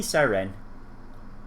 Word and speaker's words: Psyren: person to person personality p siren silent p but it's still there the more they spend